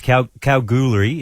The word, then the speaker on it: Kalgoorlie: It's Kalgoorlie is how you say it, I believe, but it's the one with the red sand.